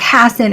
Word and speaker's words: Hassan: Hanson they'd be like Hassan it rhymes with Bassin right and then they